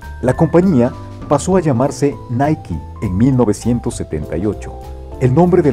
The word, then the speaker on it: Nike: La palabra Nike se pronuncia normalmente en dos sílabas, Nike. No obstante, en algunos países de Latinoamérica se pronuncia en una sola sílaba, casualmente casi igual al apellido de su fundador, Knight, pero con el sonido de la K al final, Nike, el logo Nike.